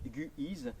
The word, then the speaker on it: Guise: crise car la vie étant situés sur l'oise guy is signifie le guet sur l'oise mais rappelez vous